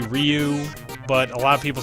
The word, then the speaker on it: Ryu: kid nowadays I say Ryu but a lot of people say it's Rue I don't know why they say it's Rue clearly there's a y in there so you should probably pronounce it at least if you're